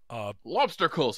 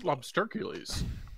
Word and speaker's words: Lobstercules: Lobstercles. I think it's pronounced Lobstercules. It doesn't make any sense.